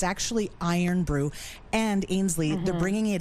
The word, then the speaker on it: Irn-Bru: I'VE ALWAYS PRONOUNCED IT IRN-BRU. THEY TOLD ME THAT'S INCORRECT. IT'S ACTUALLY IRON BREW.